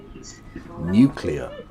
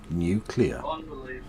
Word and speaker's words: nuclear: But do you nuclear? It's pronounced nuclear.